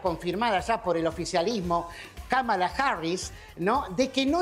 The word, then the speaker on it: Kamala: It's not Kamala. It's Kamala. Kamala Harris. Kamala's for our schools. Kamala's for affordable child care. That's Kamala.